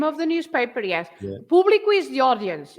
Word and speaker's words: público: So público, so you say público, you stress bli, but then if you have an accent on the u, so then you have to say público.